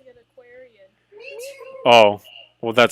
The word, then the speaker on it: Aquarin: Aquarin, Aquarin, Aquarin, like aqua with a rin at the end of it. This entire time I've been pronouncing it Aquarian.